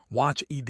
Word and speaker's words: watched: Watch ED equals watched. CH is unvoiced.